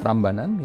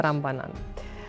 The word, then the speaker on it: Prambanan: temple complex complexes, which I hope I will pronounce correct. Borobudur. Borobudur? And Prambanan. Prambanan, yeah. Prambanan.